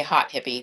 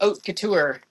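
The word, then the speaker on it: haute: Some people might say hot hippie, but it's not. It's pronounced oat. Like oat couture.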